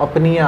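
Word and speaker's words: apnoea: अब देखो यहाँ पर इस शब्द का जो प्रोनाउंसिएशन है वो अपनिया है, और मज़े की बात इसमें जो ये रूट वर्ड एक और जो दूसरा आ रहा है एपनिया, ठीक है, एपनिया, अपनिया।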